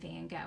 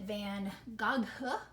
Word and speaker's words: Van Gogh: we don't pronounce it van gaga its van gogh notice the gh is silent the oh is long and that's all you